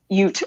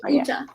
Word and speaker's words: Uta: So I definitely thought Ute. Ute, yeah. Okay, so Uta.